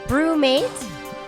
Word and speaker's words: BruMate: Are you saying brewmate? Brewmate. Brewmate. Brewmate. Brewmate. Brewmate. Brewmate. It's Brewmate.